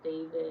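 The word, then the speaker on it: d4vd: His name is David and it's spelled D4 DV before his A.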